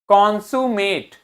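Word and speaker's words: consummate: कान सा में लिखता है कान से। सा के बाद देखो क्या बना हुआ है, यू। यहां पे उल्टा ई बना है, मतलब यू का प्रोनाउंसिएशन करना है। तो क्या हो गया, कांसु में। एम के बाद क्या है, ए, मेट। तो ये शब्द क्या हो गया, कॉन्जुमेट। कॉन्सुमेट।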